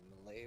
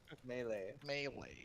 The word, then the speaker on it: melee: __ ] me up it's not melee it's me no it's not me it's not mealy i don't know anymore melee melee i have read about many